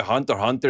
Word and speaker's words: Hunter x Hunter: I still have no clue why Hunter Hunter is called Hunter Hunter when you write it as Hunter Hunter x Hunter. Like that doesn't make sense to me. Like the x is silent.